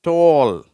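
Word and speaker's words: tall: அடுத்தது பாருங்க டால் டால் இட்டு இந்த ஆ வந்து ரொம்ப இப்படி சொல்லணும் ஓ அப்படின்னு சொல்லணும் உதடுகள் வந்து ரவுண்ட் ஆயிடும்.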